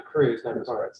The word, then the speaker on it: Kreuz: well thank you and sorry i've mispronounced your name that's okay it's dr cruz um so thank you